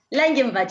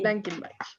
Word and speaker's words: Langenbach: Por favor, ¿cómo se pronuncia? Langenbach. Sí. Langenbach, que es productora de La Punzante.